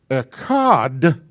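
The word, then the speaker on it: אחד: end of ekkad which makes sure that you pronounce ekad and not ashar or which means another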